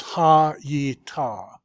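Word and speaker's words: הָיְתָה: This doesn't have the dot, so this tells you that that's a vocal schwa. And if this is a vocal schwa, then this has to be an open syllable. So it's ha yi ta. Ha yi ta. Three syllables.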